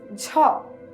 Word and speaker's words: ঝ: the Bali letter th the next letter is Ja it is representing the vo aspirated alop palal